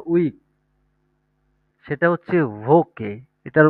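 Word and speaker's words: Woche: আমরা যেটাকে বলি সপ্তাহ বা উইক সেটা হচ্ছে ভোকে এটার উচ্চারণ হবে কি ভোকে ডি ভোকে এটা হচ্ছে ডি ভোকে যেটাকে আমরা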